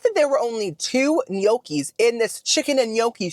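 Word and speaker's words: gnocchi: know how to pronounce noi I mean I do cuz I'm best friends with giata and she taught me it is pronounced noi not gachi not good night noock e noi there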